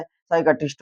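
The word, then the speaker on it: psychiatrist: जाएगा साइकोलॉजी हो जाएगा इसी में देखो पी के बाद में एस आ रहा है साइकेट्रिस्ट हो जाएगा क्योंकि पी के बाद एस आ रहा है तो पी साइलेंट हो जाएगा।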